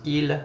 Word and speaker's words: ils: In this case, it's telling us that they is masculine, so let's use ils. Again, do not pronounce the S.